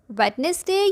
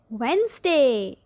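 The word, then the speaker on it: Wednesday: Number 1, इस word का सही प्रोनाउंसिएशन क्या है? वेडनेसडे या वेंसडे? सोचें और बताएं। 1, 2, 3, 4, 5। सही जवाब है वेंसडे।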